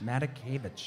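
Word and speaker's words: Matakevich: it is tyler medicave how do you pronounce his last name matakievich mata kevich that's right said he talks too damn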